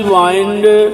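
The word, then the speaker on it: bind: एम आई के ई microphone, B आई एन डी बाइंड बांधना। आई का उच्चारण कहीं सुनाई नहीं देता, बाइंड।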